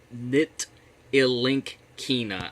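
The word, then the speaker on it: Ntilikina: Nitilinkina, I believe is how you would pronounce that.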